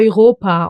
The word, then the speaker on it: Europa: Eu. And it gets pronounced as oi. Like for example in Our Europa or Oro scene the